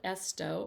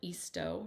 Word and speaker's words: Easto: this one here is Charlotte esto or Charlotte eastoe depending upon how you say her name and then this is